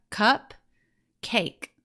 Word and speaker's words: cupcake: That silent E is going to help the A make its long vowel sound A. So we have cake. And together we have cup, cake, which makes cupcake.